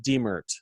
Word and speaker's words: Diemert: is uh vicky vicki your last name is pronounced demurt is that correct yes i think i've